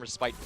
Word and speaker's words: respite: So the pronunciation, random fun fact, the pronunciation of Respite versus Respite depends on whether you're from the Commonwealth or from American English. What's the American way? The American English is respite, hilariously enough. Respite, it is.